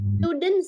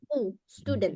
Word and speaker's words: student: oke I studen Association stud ya sa beberapa kali mendengarkan ada kesalahan umum kita itu bacanya stud stud tapi seperti biasa student ya nanya cara baca